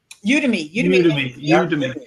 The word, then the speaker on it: Udemy: Is it pronounced Udemy or Udemy? Udemy.